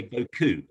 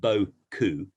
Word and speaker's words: beaucoup: And they said, you do realize that you're pronouncing it beaucoup, not beaucoup. So I said, well, what's the difference? And they said, well, beaucoup is nice arse.